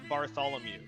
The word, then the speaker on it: Bartholomew: butcher it it's okay it's it's pronounced Bartholomew Bartholomew all right all right